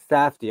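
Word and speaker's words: Safdie: Safy. Okay. Got it. Got it. No R.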